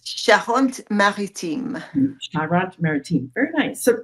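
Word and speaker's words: Charente-Maritime: you're calling your favorite spot and could you pronounce that again for me it's shant maritim shant maritim very nice so tell us a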